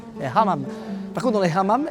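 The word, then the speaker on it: hammam: au Maroc, c'est les fameux hamam nonam parce qu'ici le H est bien prononcé hamam.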